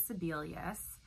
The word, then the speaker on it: Sebelius: case is National Federation of Independent Business versus Sebelius Sebelius suspend SE b e Li us it's spelled SE b e lu asked and it